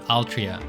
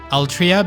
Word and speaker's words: Altria: how they pronounced uh sounds cuz Altria would be Aru Toria but written in English it's Altria which just sounds weird.